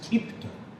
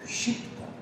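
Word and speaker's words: क्षिप्त: In Bengali pronunciation it is Kipta. But actual pronunciation in Sanskrit and Hindi they say Shipta.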